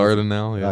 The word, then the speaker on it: Dardanelle: Is that how you pronounce it? Dardanelle, yeah.